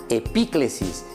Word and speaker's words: epíclesis: La palabra era epíclesis. ¿Cómo se pronuncia entonces, Melissa, esa palabra?